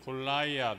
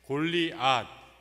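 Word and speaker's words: גָּלְיָת: 이 골리앗이라는 골라이앗, 영어로는 이런 식으로 발음하는 것 같은데 골리앗, 이 시브리 발음으로 하면 골리앗 이렇게 발음을 한다고 그래요.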